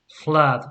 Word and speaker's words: flood: Flood. It's not flu, it's not flow, it's flood.